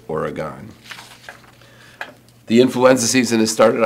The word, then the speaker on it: Oregon: about that I know people from Oregon call it organ but I like all three syllables origon the influenza season has